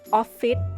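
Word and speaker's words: ออฟฟิศ: English word office but in Thai accent we pronounce this word as offit with a d at the end that's because we don't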